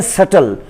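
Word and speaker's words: subtle: और फिर डेट है, ये कल के वीडियो में भी इसको पढ़ा था, B इसमें भी साइलेंट है और हम डायरेक्टली T को पढ़ते हैं। फिर ये लफ्ज़ है सटल, सटल का मतलब है बड़ा नाजुक, बारीक।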